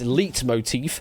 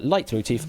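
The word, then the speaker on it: leitmotif: Yes, the other ones read as lit motif, lit motif, and leat motif, I suppose, is probably how I'd pronounce D. Um, though I don't think that one even exists. But light motif on C is the correct answer.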